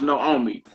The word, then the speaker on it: Naomi: Underneath that, bottom of page 95, it says Naomi is pronounced Naomi.